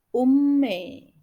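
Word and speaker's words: うんめい: Kemudian unmei dibaca ummei.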